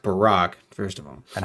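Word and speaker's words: Baruch: advice that Jehovah gave to a man named baric who was baric what can his example teach us it's pronounced Barack first of all and how can the Divine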